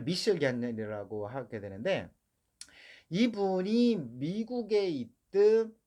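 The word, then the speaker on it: Michel Gagner: 전 세계적으로 현재도 그 미셸 가냐라고 있습니다. 영어 발음을 하면 마이클 게그너 뭐 이 정도 되겠습니다. 근데 이 사람이 그 프랑스 지방 그러니까 캐나다의 퀘벡 쪽입니다. 퀘벡 쪽에서 이제 때문에 발음을 미셸 가냐라고 하게 되는데 이분이 미국에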